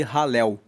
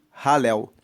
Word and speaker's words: Halel: É um salmo de ralel. Ralel se escreve com h a l e l e ralel significa louvor, louvor a Deus.